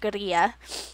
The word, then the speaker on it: guerrilla: And they would employ gorilla, so, or I suppose technically it's pronounced guerrilla, so guerrilla tactics by demonstrating in public, putting on performances, and placing posters and flyers in public locations.